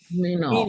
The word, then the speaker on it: Minal: Actually, it's spelled Minal. Minal. Or pronounced Minal, I should say.